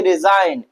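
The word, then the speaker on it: resign: Silent होता है। तो हम असाइन पढ़े। क्या पढ़ेंगे? असाइन। क्या पढ़ेंगे? रिजाइन क्या पढ़ेंगे अलाइन हम क्या पढ़ेंगे डिज़ क्या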